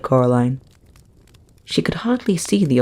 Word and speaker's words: Coraline: They kept saying Coraline. Not Caroline. Not Caroline at all."